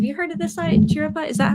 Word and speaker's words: Chiripa: Chiripa? Is that how we pronounce it?